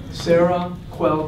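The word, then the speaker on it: Seroquel: don't write it down just remember Sarah qu Sarah quell who anyway I have pneumonic so think of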